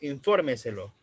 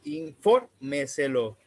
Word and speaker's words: infórmeselo: Esta, por lo general, es la cuarta sílaba, como por ejemplo, infórmeselo. Estamos hablando de infórmeselo, justo antes de la antepenúltima.